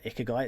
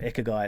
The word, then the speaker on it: ikigai: the other day it's this concept called uh ikigai it's a Japanese concept it's called Echo guy it's spelled i-k-a-g-a-i I think something like that but